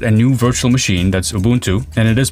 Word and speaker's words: Ubuntu: yeah I created a new virtual machine that's Ubuntu and it is pronounced Ubuntu uh not Ubuntu or abantu or Ubuntu fight me in the comments about it it's